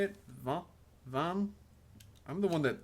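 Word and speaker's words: Vannes: And yeah, it's pronounced like Van, just French here.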